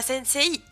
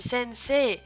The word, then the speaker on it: sensei: Soit, de manière générale, on va rajouter un I après une syllabe en E pour l'allonger. C'est le cas notamment du mot sensei, hein, que vous connaissez presque tous, je pense. Sensei, on dit pas sensei, on dit sensei.